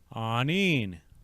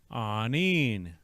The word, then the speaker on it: aaniin: second word I presented the syllables for this word are going to be the double a or AA sound next is n double